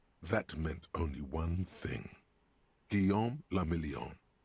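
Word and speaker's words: Guillaume Le Million: Giam lameon. If it doesn't rhyme, you're not pronouncing it right.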